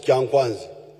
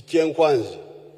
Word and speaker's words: Kyankwanzi: When you hear this kyenkwanzi, which the Waganda mispronounce as kyankwanzi, it is kyenkwanzi.